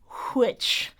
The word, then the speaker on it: which: transatlantic or mid-Atlantic accent, which or should I say which contained elements of American and British pronunciation features.